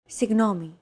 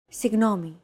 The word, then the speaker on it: Συγγνώμη: Συγγνώμη. This character isn't pronounced using an English G sound at all. Γ. It's like a very soft, continuous, and loosely held G, almost as if you're gargling, but don't make it sound too throaty.